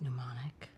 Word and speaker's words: mnemonic: Phil would remember how the word is pronounced. I think it's mnemonic.